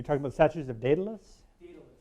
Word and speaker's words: Daedalus: Daedalus, that's how you say it.